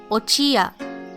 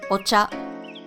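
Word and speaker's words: お茶: ya combined so again make sure that the yaw is half sized otherwise this would be pronounced ochia instead of ocha for combined characters you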